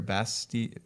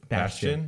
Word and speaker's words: Bastion: Bastion. Bastion.